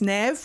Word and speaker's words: Neve: I thought her name was Neve, but it turns out it's Nev, which I'm relieved at because my character's called Neve.